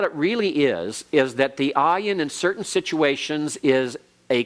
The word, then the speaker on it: ayin: Ayin, Pei, Tzade, Kof, Resh. Now, I might warn you something about the ayin. There are certain situations in which the ayin actually is pronounced almost like a G sound.